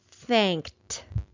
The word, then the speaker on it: thanked: it out together thanked there is just one syllable in this word so just like we thought suffix ed is not adding an extra vowel sound and it is not adding an extra syllable to this word so we do